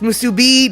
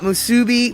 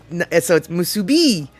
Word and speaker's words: musubi: Okay, so it's musubi, not musubi. Well, you know, everybody says it different, man. I gotta fix the pronunciation. It's musubi.